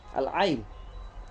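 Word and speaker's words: ع: Akan tetapi ain di sini bukan makharijnya bukan dari hidung, akan tetapi dari al-hal, al-ain.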